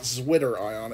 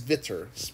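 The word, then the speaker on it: zwitterion: a zitter ion it's German so it's not zwitter ion it's zitter pronounced with a V the zitter ion is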